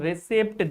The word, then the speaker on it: receipt: This is not receipt, this is a receipt, not receipt. This is receipt. Okay, here p is silent.